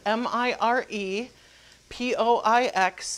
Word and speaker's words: mirepoix: been cooking my mirepoix which is spelled Mir e P o IX in the is a French word mirepoix for the celery onions